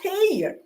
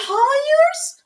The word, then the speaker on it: Heyer: I asked for a Georgette Heyer. And that's how the British say. And the lady, this is Canadian. Georgette Hires?